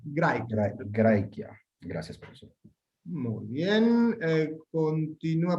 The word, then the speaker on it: Graecia: Recuerden que AE lo pronunciamos, esto no lo explicamos aún en detalle, pero si recuerdan mi lectura, Graecia. Graecia.